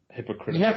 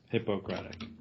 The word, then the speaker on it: Hippocratic: Not hypocritical. You have to emphasize that third syllable. Yeah, Hippocratic.